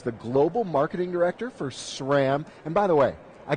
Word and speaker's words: SRAM: at SRAM listen carefully it's not it's not shrimp it's not scram it's not spam exactly just SRAM SRAM is the right way to say it welcome to Good morning